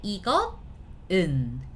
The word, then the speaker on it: 이것은: But it's tough to pronounce, isn't it? 이것은. Tough to pronounce. We don't want that tough, little harsh sound, so that the S sound goes back to the original position, right?